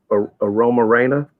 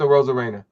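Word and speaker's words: Arozarena: Aroma Reina. Is that how you say it for Tampa? A rose con pollo, but it's a Rosa Reina.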